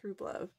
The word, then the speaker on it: Rublev: make a video about Rublev watercolors, which I'm not sure how to pronounce. I think it's Rublev.